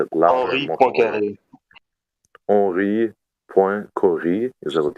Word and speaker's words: Henri Poincaré: How would you pronounce that? Henri Poincaré.